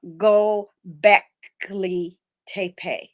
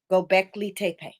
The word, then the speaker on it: Göbekli Tepe: get through it it's gonna be okay it's pronounced uh go back lee tape gobekli tape okay and then we only have three webbies